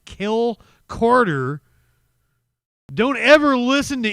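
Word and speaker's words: Cale: It was C-A-L-E. Kel. You wouldn't say Calais or something, would you? That's not how you would pronounce it. It would be Kel, right? Am I wrong on that? But also not kale as in, the garnish you get at the Pizza Hut salad bar.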